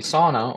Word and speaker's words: sauna: Sauna, or sauna, it's pronounced in Finnish.